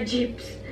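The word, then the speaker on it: cips: magk na naman diyan bakit iba akong magpronounce napo ko po kasi siya in Turkish kaya kung para sa inyo mali yung pronounciation ko um pagpasahan niyo na lang po kasi like ha dito sa turkey ang tawag nila geps kaya parang naano ko ba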